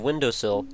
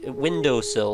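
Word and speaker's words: Windosill: is so obvious it reminds me of windowsill which every time i mention this somebody goes what what did he just say windowsill like like the sill of your window but it's spelled w-i-n-d-o-s-i-l i think it's just one l and that's one of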